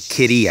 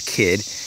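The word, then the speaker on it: Kidde: here today is a kid brand I'm pretty sure that's how you pronounce it it's not kitty I believe its kid it's a ki dde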